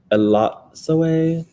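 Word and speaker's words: Elatsoe: It's pronounced Elotsoe. We are reading You Should See Me in a Crown by Leah Johnson for the Choices Book Club. You'll be doing reading sprints this week. Elotsoe, maybe more correct.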